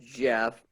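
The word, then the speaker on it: Geoff: off no just well g off is pronounced jeff but it got an e in it and i just tried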